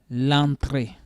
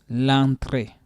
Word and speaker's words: entrée: L'entrée. L'entrée. Now, this is another challenge also that English people are having. You see this mark on the E. Yeah. So that will make it sound A.